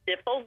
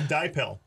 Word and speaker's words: Dipel: When I winter them over, I have put something called dipple dust or dipel dust. I'm not sure how you say it. That's pretty good. It's actually called dipel.